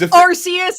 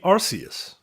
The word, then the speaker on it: Arceus: are there any other are there any other words that have a hard c followed by an e right because it's like cemetery century it would be arceus right i think so